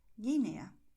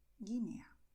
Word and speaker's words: Guinea: And in GUE, GUI, the letter U is silent. So we are going to say in Spanish, Málaga, Bogotá, Guatemala, Guernica, Guinea.